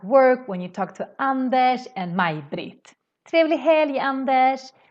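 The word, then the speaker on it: Anders: We do the same thing when we say Andesh in Swedish. Andesh is this Swedish name, but RS always makes this sh sound in Swedish.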